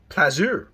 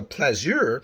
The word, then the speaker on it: plaisir: That's the French word for pleasure. Plaisir. I hope I'm pronouncing it correctly. I have 3 years of French. Plaisir, or plaisir, as it might be pronounced by a Parisian, is a comfortable pleasure